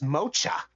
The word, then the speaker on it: mocha: mocha on it well I thought that says mocha no it's pronounced like a k for some reason does that mean there